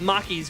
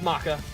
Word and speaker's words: Maka: Isn't it Maka? Or have I been pronouncing it wrong? You know what? There's a really, really good chance I've been pronouncing it wrong. Chat. As I said before, we're cooked. As I've stated previously, we're cooked. It's Maka. It is.